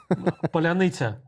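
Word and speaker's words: паляниця: We have some kind of words in our Ukrainian language which cannot be pronounced by Russian at all. We have it's just, even if you are going through Kyiv at night through checkpoints, almost on every checkpoint, the guys who are guarding the city can ask you, please say Polyanitsa. And for Russian, it's almost impossible to pronounce this word.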